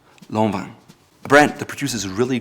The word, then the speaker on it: Lanvin: It's not Lanvin, as you might think, it's Lanvin. Again, pronounced Lanvin. Lanvin.